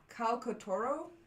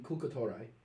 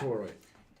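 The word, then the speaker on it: Khalkotauroi: And during that story, Jason has to face two, I'm going to mispronounce this, Calcotoro? Can I read it? Yeah. Where is it? That would be Kulkatorai. Something like that. Kulkatorai.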